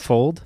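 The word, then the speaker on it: Fuld: now interestingly enough fold how were you saying it you were saying flood right but it's fold fold I said fold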